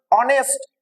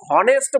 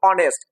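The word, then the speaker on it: honest: তাহলে এখানে অনেস্ট, আমরা উচ্চারণে কিন্তু হনেস্ট বলছি না, উচ্চারণ বলছি অনেস্ট।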